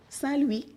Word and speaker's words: St. Louis: told her I was going to salwi Missouri with the French act pronunciation she told me honey